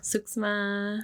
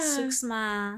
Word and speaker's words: suksma: Suksma. Oh. Yeah. Suksma.